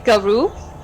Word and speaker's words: garou: French, and she said the French word for werewolf was loup-garou, so I'm gonna say garou, probably. I think that's the more correct pronunciation.